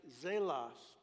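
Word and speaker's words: ζῆλος: The Greek word for envy in that verse is pronounced zelos, which is the Greek word from which we get our word zeal.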